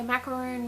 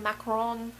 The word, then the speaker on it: macaron: to pronounce on it some people say macaroon macaroon macaron however you want to pronounce it that's what